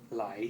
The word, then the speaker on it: ไหล: This technique, plug it, they call ไหล Lai. It means flowing. How do you spell it, ภาษาไทย? สระไอไม่มาไหลพอหีบลอลิง Okay. ไหล you just ไหล flowing, make it flowing.